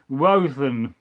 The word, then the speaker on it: Woden: And then Joshua Phillips says, I pronounce Woden, Wothen.